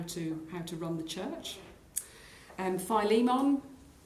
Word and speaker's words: Philemon: Philemon, or Philemon, different ways of pronouncing that. I'm a Philemon person myself.